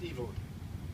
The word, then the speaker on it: Evelyn: person in the trilogy evil spelled evelyn pronounced evil and nobody ever ever dared to call her evelyn she was evil she